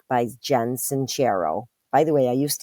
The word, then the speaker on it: Sincero: and start living an awesome like by Jen sanchero by the way I used to pronounce it sincero but it's sincero okay another New York style New York Times